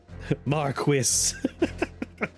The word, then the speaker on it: Marquis: Marquis. This is the right pronunciation.